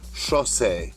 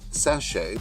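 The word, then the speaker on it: chassé: you will know that the correct pronunciation of the dance term is sh not sachche now I'm going to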